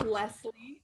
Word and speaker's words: Leslie: This is Leslie, which is pronounced less, like the word less, and then Lee.